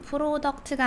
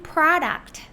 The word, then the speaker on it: product: Best selling best트 selling 프로덕트가 아니라 best selling prodct 프로덕트가 아니라 오 발음을 하실 때 아 입양을 하면서 소리를 오로 내 주세요. 입을 크게 벌리고 prodct 요렇게 말음해 주셔야 됩니다.